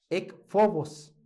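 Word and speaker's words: ἔκφοβος: Ekphobos. Ekphobos. PH se lee como F. Se pronuncia como F.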